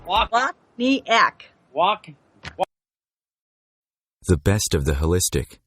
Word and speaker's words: Wachniak: Pronounce it. Wachniak. Wachniak.